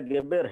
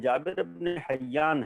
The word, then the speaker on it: جابر بن حیان: امام سے سیکھے تھے۔ اگرچہ آج ان کا نام بھی جابر کے بجائے گیبر ہے یا دوسرے تلفظ جو کیا جاتا ہے، لیکن جابر ابن حیان ہے۔ مقصد یہ ہے